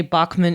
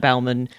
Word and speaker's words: Baughman: If you meet her at a convention, please say Bachman and not Bauman.